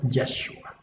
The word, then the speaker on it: Yeshua: aquí está el problema, el copista cambió el nombre hebreo original del Mesías de su pronunciación correcta, que es Yeshua, la cambió a una forma abreviada, que es esta que vemos acá, Yeshu.